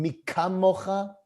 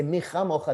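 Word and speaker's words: מי כמוכה: mocha ba'elim Adonai and mika mocha nedar bakodesh, when it's really supposed to be the same word with the digduk and everything like that. Say micha mocha, that's the way that you pronounce it.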